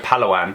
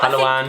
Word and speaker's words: Palawan: We go Palawan.